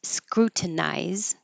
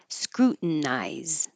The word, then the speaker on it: scrutinize: You can say with the T, scrutinize, or without the T, scrutinize.